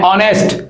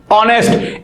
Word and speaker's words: honest: keep in mind that in this word honest this letter H is silent the world the letter